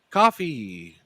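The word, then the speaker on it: Ko-fi: Now, Kofi Coffee. Does anyone know how to pronounce this? I'm sure it's coffee. It's coffee. Are you sure? It's Yeah, it's coffee. It's got a little coffee cup.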